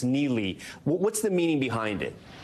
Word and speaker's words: Neli: It's called, I think it's pronounced Neely. What's the meaning behind it? Neely, that's right.